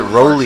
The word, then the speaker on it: Rowley: I think he said he pronounces it Rowley.